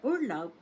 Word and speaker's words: Urlaub: U-R-L-A-U-B, and the stress is on the first syllable. That is the German word for holiday or vacation. Take note, the B at the end of the word is pronounced as P. So, Urlaub.